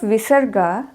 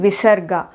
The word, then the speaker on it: visarga: clearly states the how how the visarga has to be pronounced dishloka goes like this yes like how a baby snake who is that means who has little energy exhales nishwa Saha means exhale like that we have to pronounce the visarga ushma refers to the visarga means the her sound is not allowed it should be devoid